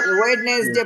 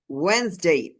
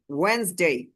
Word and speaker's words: Wednesday: আমরা ওয়েডনেসডে পড়েছি, ওয়েডনেসডে, আসলে এটা উচ্চারণ হচ্ছে ওয়েন্স, ওয়েন্সডে, ওয়েন্সডে, ওয়েন্সডে। এখানে হচ্ছে ডি এর উচ্চারণটা সাইলেন্ট থাকবে, ওয়েন্সডে।